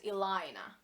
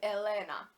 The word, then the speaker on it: Elena: like I am NOT aligner I am NOT a line I am Elena if you pronounce it like a real finished person it's Elena my life name though